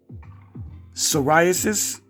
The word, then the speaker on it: psoriasis: I posted a while back, there are a lot of words with P on the beginning where the P is silent. Psoriasis, it starts with the P.